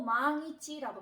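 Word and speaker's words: 万一: 우리가 만일이라는 단어가 있는데, 만일이라고 할 때는 뒤에 왔으니까 또 이츠인가 보다 라고 여러분들도 생각을 하실 텐데, 이 만일은 또 망이치라고 발음을 합니다.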